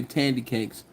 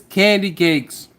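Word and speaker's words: Kandy Kakes: I always say tandy cakes, but it's candy cakes.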